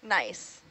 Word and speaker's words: gneiss: Nice. Oh, so the G is silent? Yeah, the G is silent. It's nice. It's a type of rock.